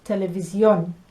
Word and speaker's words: televisión: So we say, for example, television, and we land on vi, television. In Espanol, it's televisión. Okay, so they're landing on the on the end.